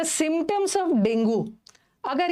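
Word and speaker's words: dengue: ये लिखना, डेंगू is, dinghy बोलते हैं इसको हम लोग, नॉर्मल डेंगू करते हैं, बट सही प्रोनाउंसिएशन डेंगी है इसका, बट हमें डेंगू बोलने की हैबिट हो गई है।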